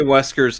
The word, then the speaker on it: Wesker: If you're gonna say Wesker's name, you gotta say it like this: Wesker.